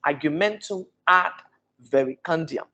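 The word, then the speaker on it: argumentum ad verecundiam: get it perfect the first time you keep pronouncing it you get it so it is argumentum act very candia argumentum ad very can argue momentum and very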